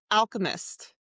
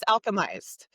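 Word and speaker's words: Alchemised: Ooh, Alchemist. Oh. Alchemized. Oh, is That that how new you one.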